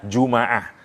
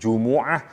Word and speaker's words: Jumu'ah: misalnya ya sama durhaka boleh juga dibaca jumaah Kenapa karena berkumpulnya manusia karena pada saat itu banyak manusia yang berkumpul karena itu disebut dengan jumaah jangan disalahin ada Tika memang cara bacanya Jumuah Jumat jumaah kita milih